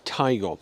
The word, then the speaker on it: Taigo: So, this is the Volkswagen Taigo. That's definitely how you pronounce the name.